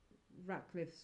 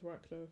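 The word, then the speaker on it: Ratliff: mainly around the um the Ratcliff's family. I got their name wrong. Yeah, it is Rackcliffe and the Rackliff family and then the gun had been retrieved back by um Guy Talk.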